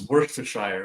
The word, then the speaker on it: Worcestershire: Yeah, but it's Worcestershire. Right? Worcestershire. Worcester. It's fucking ridiculous. Wuster. That's how it's spelled.